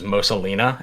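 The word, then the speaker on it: Mosa Lina: I've had recently was Mosalina, if you've heard about that game. No, I haven't. How do you spell that? Mosa. It's like Mona Lisa, but backwards. Mosalina.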